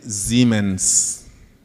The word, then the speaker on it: Siemens: So the Germans say Siemens. Siemens. Americans say Siemens. Not the S-E one. Okay. It's S-I-E.